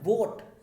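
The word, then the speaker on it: vote: अब वोट, यहाँ भी आपको लग रहा होगा ओट पढ़ रहे हैं, ओ निकल रहा है, इसलिए एन लगाना चाहिए, नहीं, इसका सही प्रोनाउंसिएशन है वोट, वा में ओ की मात्रा, इसलिए वा एक क्या है, कॉन्सोनेंट है, इसलिए हम इससे पहले ए लगाएंगे, एन नहीं लगाएंगे। इसको आप ओट मत पढ़िए कभी, वोट होता है, वोट।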